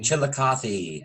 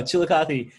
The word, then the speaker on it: Chillicothe: Chillicothe. There we go, Chillicothe, riding horses and swinging war clubs at Kitatati in Tecumseh.